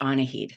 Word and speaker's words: Annahid: um I will just say uh it's actually pronounced aned so um uh you I'm so sorry about